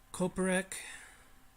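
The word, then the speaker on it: Coppock: like me some use I've been trying this kopeck that's how you pronounce it I don't think I like it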